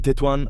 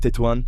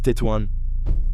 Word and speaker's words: Tetouan: By the way, we say Tettoan. I asked some Moroccans and it's not pronounced Tuwan. It's Tettoan.